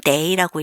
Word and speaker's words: 得: 그래서 이 day 뒤에 이렇게 시간사가 온다 그러면 얘는 day라고 읽고 동사구나, 걸린다, 소요되다 이렇게 해석을 하시면 됩니다.